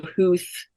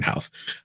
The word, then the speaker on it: Howth: They would go Houth, or so I was like, make it so simple, Howth.